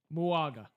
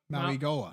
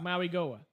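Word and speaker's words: Mauigoa: or I'm going to pronounce his name horribly, the tackle from Miami, Muaga. Maui Goa. Maui Goa.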